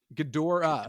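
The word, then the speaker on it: Ghidorah: That's a That's a hard O there. Gdora. Gdora. Gdora. That's how you say it. Gdora. I always said Gera.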